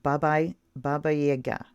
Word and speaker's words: Baba Yaga: And they say pronounced Baba Yaga.